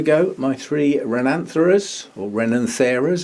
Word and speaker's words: Renanthera: my three rhinanthras or renin thereos however you want to say it that's how i started saying it but somebody um gave me a whatever the expression is that that tells you how to pronounce things said that most people actually say as rananthara and that does sound a bit more orchidy to me so i'm